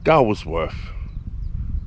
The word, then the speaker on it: Gawsworth: I would pronounce it Gawsworth, but I believe it's pronounced Gawsworth. Little village not far from here.